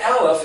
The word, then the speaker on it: Aleph: Aleph is the silent letter, it doesn't speak. But it speaks in the other letters.